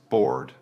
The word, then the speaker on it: bored: First is bored. It is a long or sound. Bored. Remember, do not confuse it with bored.